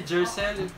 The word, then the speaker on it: Gershel: J, Gershel. G yung spelling pero J yung pronunciation.